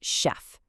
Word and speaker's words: chef: Take the word chef. It comes from French, so that ch makes a soft sh sound. But then you have architect, which comes from Greek, and those exact same letters make a hard c.